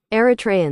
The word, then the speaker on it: Eritreans: Who cares how the British pronounce it? Yeah, I was totally right. Eritreans.